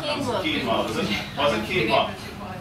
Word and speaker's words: quinoa: And the grain with it, I can't pronounce it. Quinoa. Quinoa, was it?